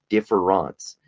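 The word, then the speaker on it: différance: Nietzsche had a concept called differance. That is a French pronunciation and is not spelled in the same way as difference.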